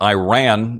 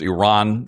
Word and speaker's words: Iran: It's not Iran. It's Iran.